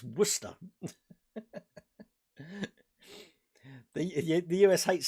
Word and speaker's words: Worcester: It's Worcester. The US hates saying Worcester. Yeah, you don't pronounce the Cester.